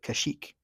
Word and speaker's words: Kashyyyk: What is the Wookiees' homeworld and how do you pronounce it? Kashyyyk. You pronounce it Kashyyyk.